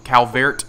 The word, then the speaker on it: Calvert: go to the C Calvert Mansion I keep wanting I keep wanting to pronounce it Cal but it's not um and the reason